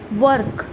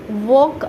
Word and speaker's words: work: वर्क, मैं इसीलिए आपको प्रोनाउंसिएशन करते समय बहुत क्लियरली वर्क ऐसा बोला क्योंकि आपको समझ में आए। वॉक ऐसा बोलूँगी तो वो चाइना का वॉक भी बन जाता है, जिसके अंदर सब्ज़ी बनाते हैं चाइनीज़ लोग, वॉक, उसको भी वॉक बोलते हैं। तो वो प्रोनाउंसिएशन में वॉक नहीं बोलना है मुझे, वर्क, वर्क बोलेंगे